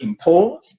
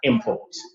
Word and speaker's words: import: When we are pronouncing nouns which have two syllables, we put the stress on the first one.